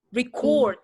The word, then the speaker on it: record: I will record you. Record. Karena ketika dia mau dinyatakan sebagai verb, maka dia harus di-stress di second syllable.